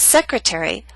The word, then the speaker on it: secretary: Appetizer and secretary are longer words. They have both primary and secondary stress. Primary stress is at the beginning of these words, but the T still falls on a stressed syllable. It's secondary stress. A little weaker, but still stressed. That's why it's still a true T.